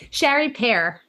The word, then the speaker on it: Chari Pere: Sherry Pere, did I pronounce that right? Chari Pere.